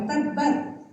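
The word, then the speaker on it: تَبَّتْ: Watab yang keduanya itu pakai tasdid. Jadi bacanya bukan abi lahab bukanada abi lahab harus ditahan dulu. Kenapa? Saking celakanya Abu Lahab dikasih tasydid. Dalam bahasa Arab tasydid itu artinya penekanan. Jadi bacanya harus ditekan.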